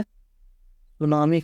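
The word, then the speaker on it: tsunami: ठीक है, इसमें टी साइलेंट रहता है इसलिए हम लोग सिर्फ सुनामी पढ़ते हैं।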